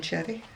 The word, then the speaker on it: Xerri: Amigurumis, as is Jen Cherry. Jen Cherry is spelled Xerri, but apparently it's pronounced cherry.